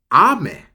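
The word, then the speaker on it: 雨: for the next one you have ame ame ame with a high pitch means rain for number two ame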